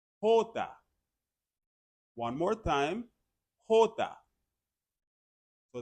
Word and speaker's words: jota: The letter J in Spanish is pronounced Jota. Jota.